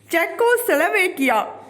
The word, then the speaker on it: Czechoslovakia: सुडेनलैंड an area in चेकोस्लोवाकिया, जिसको लिखते हैं CZECHOSLOVAKIA। जेड यहाँ पे साइलेंट है, इसको क्या पढ़ना है? चेकोस्लोवाकिया।